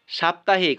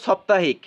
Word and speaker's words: সাপ্তাহিক: হয় সাপ্তাহিক তো সাপ্তাহিক কিন্তু দেখো সপ্তাহিক আমরা বলি না এক সপ্তাহ দেখো আমাদের উচ্চারণটা কি এক সপ্তাহ অর্থাৎ কি আকার যে উচ্চারণ সেটা কিন্তু আসছে না তাই না দেখো সপ্তাহ কিন্তু না একচুয়ালি এটা কি হবে সাপ্তাহিক হবে আকার হবে আকার সাপ্তাহিক তো কি হবে একা